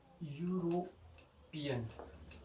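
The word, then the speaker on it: European: अब आप क्लियरली बता सकते हो कि यूरोपियन, ठीक है। यूरोपियन में क्या होता है? ईयू जहां पे भी आपको दिख जाए ना ईयू, तो उसका साउंड होगा यू, और यू का इंग्लिश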